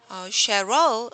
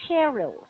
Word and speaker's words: Cheryl: but usually this is pronounced as Cheryl. Cheryl. Could you write down the pronunciation symbols? Okay, hold. So Uh-huh. so Cheryl. Cheryl. Yes, Mm, Cheryl, not Cheryl. The stress is Cheryl. usually at the start.